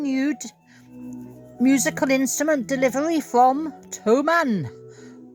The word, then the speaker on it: Thomann: musical instrument delivery from Toman or Fman. Now, it's in Germany, so I think it's Toman. You don't pronounce the th Anyway, whatever.